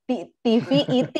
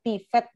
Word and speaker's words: TVET: apa pendidikannya media ya karena ada TV IT pertama saya bacanya. Ternyata katanya Mas Adit oh bacanya Global TVET Management.